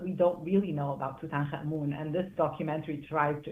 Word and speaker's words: Tutankhamun: I pronounce it Tutankhamun.